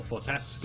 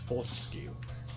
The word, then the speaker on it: Fortesque: The setting, the characters, the hero, Sir Daniel Fortesque, or I think it's actually pronounced Fortescue in the games. But actually, I think linguistically speaking, it is Fortesque.